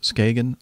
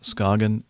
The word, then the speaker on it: Skagen: Danish watch and um I've heard it pronounced many different ways Skagen scogan and even skain which I think is actually the proper way to pronounce it in Danish at least um so that's